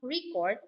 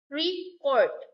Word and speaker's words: record: Noun record versus record. Verb to record. The noun record emphasizes the first syllable, and the second, the verb record emphasizes the second syllable.